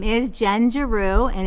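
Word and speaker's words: Giroux: to have a discussion my name is Jen jaru and it's g i r o ux i spell that because it is difficult to say and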